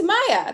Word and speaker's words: Maye: It's Maya. That's my name. It's how it's spelled.